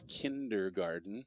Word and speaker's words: kindergarten: necessarily pronounce it and like you're saying kinked or garden and it's kindergarten so it's a D instead of a T might have to